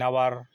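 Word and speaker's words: hour: एन आवर, आवर में ये silent होता है, आ का उच्चारण होता है।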